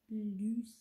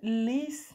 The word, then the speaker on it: lys: Lus. Nei, lys.